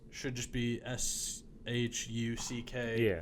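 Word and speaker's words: Shough: Why is it a uh U G when it's should just be s H U C K. Yeah, when it's pronounced Shuck.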